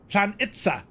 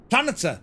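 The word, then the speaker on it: Planica: Pronunciation, says Nightsep, is Planitza. Planitza.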